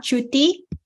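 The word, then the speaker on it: cuti: uh c u it's it's written as c-u-t-i when you say C uh you it it is pronounced as Chu so C for example like my name is not uh not Khan okay in English when I say Ka or or a different pronunciation but in Pali it's uh true so CU is uh c-u-t-i pronounces okay all right okay so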